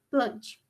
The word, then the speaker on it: Plantae: vamos falar do reino plante uma curiosidade é que apesar de se inscrever reino plantae a pronúncia é reino Plante o regras no latim sentir o que é